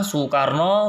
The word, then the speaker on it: Soekarno: Ya, Ji di situ menggunakan kata DJI, kemudian Sam, kemudian Su ya, Su menggunakan SOE ya, seperti nama Bapak Presiden pertama dan kedua kita, Soekarno tulisannya Soe, kemudian Soeharto juga tulisannya Soe.